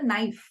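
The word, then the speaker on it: knife: दिली जात नाही उदाहरणार्थ नाईफ नाईफ स्पेलिंग काय आहे के एन आय एफ इ पण आपण नाईफ बोलतो की नाईफ बोलतो आपण नाईफ बोलतो के सायलेंट आहे आणि म्युझिकल विंडोज मध्ये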